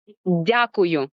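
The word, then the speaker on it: дякую: Diakuyu. Diakuyu.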